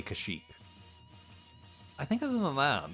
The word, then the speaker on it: Kashyyyk: But I do want them to pronounce Kashyyyk correctly. Don't give me that Kashyyyk stuff. You gotta say Kashyyyk.